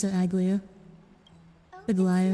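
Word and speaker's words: Aglaea: Hyacinth, thank you for taking care of the Thank you for telling us how to pronounce it, Aglia. Oh, Aglia.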